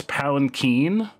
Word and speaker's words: palanquin: It's palanquin. That's how it's pronounced.